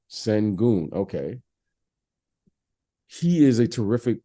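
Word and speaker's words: Şengün: I'm pronouncing his name? Sengun.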